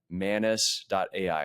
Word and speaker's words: Manus: we are looking at manis.ai and it's spelled mus. So, just like anus, but with an M at the very beginning.